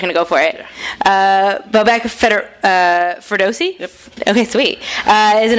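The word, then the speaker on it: Bobak Ferdowsi: And joining him, I didn't even ask about the pronunciation of your last name, so I'm just going to go for it. Bobek Ferdowsi?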